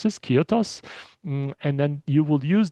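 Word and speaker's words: kyathos: ki uh that's what you that's how you pronounce this. Kyotos and then you will use that to come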